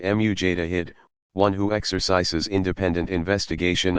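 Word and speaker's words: mujtahid: of their erudition earning the title which Tawhid pronounced mu Jada hid one who exercises independent investigation of the sacred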